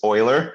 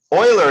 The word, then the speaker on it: Euler: method yeah no it's euler it's pronounced euler because it's swiss um but uh yeah